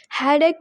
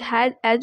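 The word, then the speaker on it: headache: हेडेक बोलना है। बहुत लोग हैड एज बोल देते हैं। This is wrong pronunciation.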